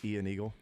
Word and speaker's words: Ian Eagle: of my one nitpick maybe it's because it's Ian Eagle instead of Iron Eagle yeah Ian Eagle could